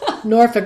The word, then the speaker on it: Norfolk: I lived in you're going to correct my pronunciation Norfolk right yes Norfolk which is on the coast right right there